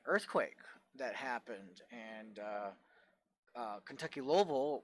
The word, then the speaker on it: Louisville: There was a earthquake that happened, and Kentucky Louisville, which they pronounce it Louisville down there, Louisville, which is the how everybody else who does not live there pronounce it, Kentucky Louisville.